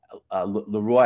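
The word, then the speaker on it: Leroi: Leroy, I guess, is the anglicized pronunciation, but clearly a French name.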